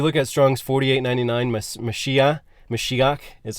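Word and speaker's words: מָשִׁיחַ: so if you look at Strong's 48.99 meshia mashiach is how it's pronounced um it just means anointed when we've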